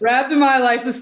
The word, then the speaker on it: rhabdomyolysis: going to do my best at trying to pronounce this. Is there a connection between rhabdomyolysis? Rhabdomyolysis. Rhabdomyolysis, thank you so much.